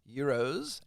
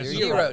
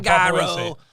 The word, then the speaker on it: gyro: And we have euros and kebabs. So, that's how you say it. Euros. Yeah. Ero, not a gyro or a gyro. Gyro. Yeah, it's a it's a yo.